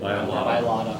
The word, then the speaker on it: Mailata: I don't want to mispronounce his last name. How do you say it? Mailata.